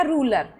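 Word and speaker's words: ruler: तो हो गया रूलर जैसे रूले आर है यू है एक अक्षर छोड़ के क्या है वोवेल तो क्या है रूले जैसे रूपी आर है यू है एक अक्षर छोड़ के क्या है वोवेल हो गया रूपी अब इन इसकी खुद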